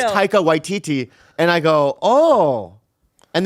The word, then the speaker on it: Taika Waititi: Then she goes, it's it's Taika Waititi.